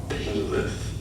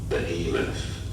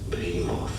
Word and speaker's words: Behemoth: Behemoth. Behemoth. Some pronounce it also more as Behemoth.